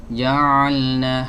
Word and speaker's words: ja'alna: Tapi kalau kita perhatikan banyak masyarakat yang membacanya tuh dari hidung. Ja'alna dari hidung nih. Ja'alna harusnya dari tenggorokan tengah.